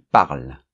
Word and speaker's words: parlent: Ils parlent. Hein, on ne prononce pas ENT dans la conjugaison.